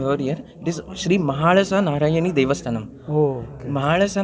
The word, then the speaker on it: Mahalasa: the southern Indian languages, we have a special L which is pronounced as La. La. La. which is a retroflex sound, which Okay. is pronounced by twisting your tongue and hardly attaching it to the palate.